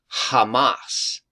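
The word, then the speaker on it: חמס: It's the Hebrew word H2555, and it literally is pronounced Hamas.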